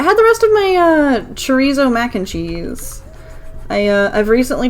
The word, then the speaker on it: chorizo: It's supposed to be like chorizo probably because it's Spanish.